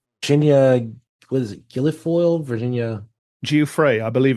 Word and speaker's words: Giuffre: The whole context of what they're like talking about here is in response to Virginia, what is it, Virginia Giuffre, I believe it's pronounced. Yes, Giuffre.